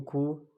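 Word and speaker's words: 구: अब 90 यानी कि 9 आ रहा है पहले, तो हम 9 को खू और फिर आगे 10 को शिप, यानी कि 9 10 आ गए तो ये कितना बन गया 90।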